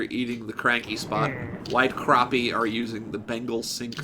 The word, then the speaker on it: crappie: from sega bass fishing where they were like crappy they were like it's actually pronounced crappie that's funny um what's the difference between a